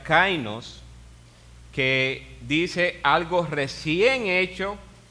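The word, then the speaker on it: καινός: Y hay otra palabra que se pronuncia kainos, que dice algo recién hecho, el cual no se parece a lo que antes existía.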